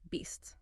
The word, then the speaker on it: beasts: And finally, beasts. Again, that distinct STS sound at the end.